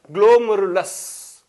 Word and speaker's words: glomerulus: A bunch of capillaries are nothing but, they are called as glomerulus. How to pronounce it as glomerulus?